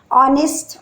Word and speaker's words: honest: Honest, honor, our here, H is silent there.